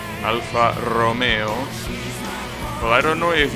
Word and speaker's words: Alfa Romeo: Alfa Romeo is pronounced as Romeo because it's an Italian word. The same way you pronounce it in Spanish, basically. Alfa Romeo.